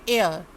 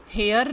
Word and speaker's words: heir: HEIR, HEIR, इस word का हम ज़्यादातर बच्चे इसका गलत प्रोनाउंसिएशन करते हैं। अब आप इसका बिल्कुल सही करेंगे उच्चारण। ये है एयर, एयर, हेयर नहीं।